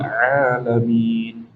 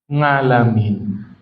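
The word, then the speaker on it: العالمين: Saya pernah ketemu di kampung ya, baca alhamdulillahi rabbil alamin huruf ain ternyata bacanya ngalamin.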